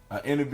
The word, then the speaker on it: NEB: So, for those that don't know, NEB is spelled INNEEBEE, but it's basically NEB, a negative energy being.